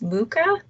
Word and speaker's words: Mucha: design artist alphonse and i think it's pronounced mucha i don't know it's m-u-c-h-a it's from 1896 and